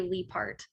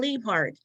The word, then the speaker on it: Liebhart: It's from German heritage, but we all say Liebhart. Oh, Liebhart.